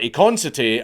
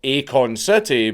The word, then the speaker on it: Akon City: And yes, I do call it Akon City and not Akon City because it's actually spelled like that. I'm not a retard or doing a megamind, but there's no space in it, so I'm just pronouncing it the way it looks like it's supposed to be pronounced.